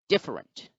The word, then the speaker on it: different: word different different different in the word different we find that the first syllable has the stress mark or the accent mark so the apostrophe signifies that the first syllable is once again the one which is stressed so therefore the pronunciation is different different different so d